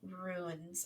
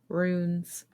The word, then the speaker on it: rune: or make your own ruins I hate that word I can't ever say it right ruins runes rooms like like Rue r-o-o-n-e rune I always want to say ruin because that's like the